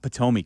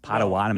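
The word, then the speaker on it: Potawatomi: Not PTOI Casino. Padawatami.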